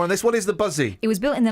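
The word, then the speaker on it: Buszy: The Buzzy. Eh? The Buzzy. The group helped... It's spelled B-U-S-Z-Y.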